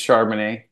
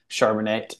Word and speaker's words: Charbonnet: you know my name's charman they almost never said it and if they did they said it wrong theyd say pronounce it a different way chanet or you know charbon it or something else and so I'm like